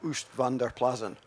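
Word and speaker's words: Oostvaardersplassen: in this area and I can't speak Dutch but it's sort of pronounced um us Vander plazan so it's an area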